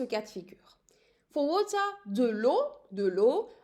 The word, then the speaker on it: eau: For water, de l'eau. I'm using here three letters, but I'm just pronouncing it as if it's in one syllable, de l'eau or une eau.